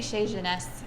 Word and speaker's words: Chez Genèse: We say Chez Genèse, which is a fairly Americanized version of it to make it easy for people.